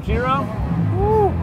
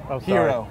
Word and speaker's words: gyro: Mario's Cuisine the lamb Jiro you said it wrong hero the lamb gyro all